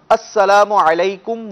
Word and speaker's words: السلام علیکم: تلفظ کیسے سلام کیا اس کا درست تلفظ جس طریقے سے ابھی میں نے پڑھا السلام علیکم ورحمۃ اللہ وبرکاتہ مخارج کے ساتھ ادا کریں اور چونکہ یہ عربی